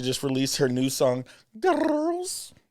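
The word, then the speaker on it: Grrrls: She just released her new song, Girls. I don't think you say it like that, but Girls. It's phonetic. It's girls. Girls.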